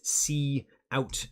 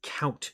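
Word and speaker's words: cout: that's what that is that is see out not one word pronounced as count but just see out and then we'll write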